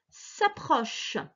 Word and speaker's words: s'approchent: habitations les animaux affamés s'approche toujours pareil le nti si tu ne le prononce pas c'est la conjugaison du verbe s'approcher donc les animaux affamés s'approche